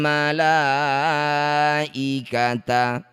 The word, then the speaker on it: malaikata: Mad th'i bertemu hamzah di satu kata malaikata. Jadilah bacaan namanya mad wajib muttasil. Cara bacanya la yang bertanda layar panjangkan enam harakat atau enam ketukan.